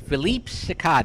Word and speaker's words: Philippe Sicard: Hi, this is Pete the Tech Guy, and I am here with Philippe Sicard. Is that pronounced right?